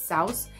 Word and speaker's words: souse: of the day and if you see s o u s e it like rhymes with house it's South and it's really like